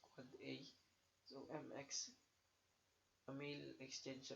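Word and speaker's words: AAAA: So for A, an end device IPv6 address pronounced quad A.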